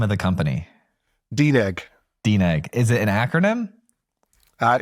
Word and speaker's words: DNEG: you say the name of the company deeg deeg is it an acronym uh it used to